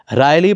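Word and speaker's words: wryly: पर सवाल उठाए हैं रायली पढ़ा जाएगा इसकी डब्ल्यू साइलेंट होगी और इसकी वर्ड मीनिंग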